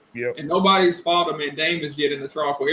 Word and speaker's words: mandamus: Yeah, the mandamus. Am I pronouncing it right?